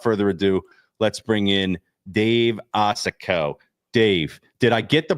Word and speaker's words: Osokow: So without further ado, let's bring in Dave Osokow. Dave, did I get the pronunciation right, first of all?